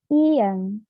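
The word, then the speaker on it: 이응: Lalu ada ieng, ieng. Nah, ieng ini jika berada di depan vokal, maka dia menjadi silent voice atau tidak terbaca. Tetapi jika berada di akhir kalimat, ieng ini bunyinya menjadi eng.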